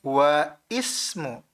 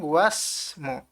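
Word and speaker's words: واسم: itu adalah Said ya karena Alif di sini adalah Hamzah washal maka dia tidak diberi harakat dan tidak diucapkan ya keliru apabila kita membacanya wa Ismu tapi langsung UAS mu sampai sini paham paham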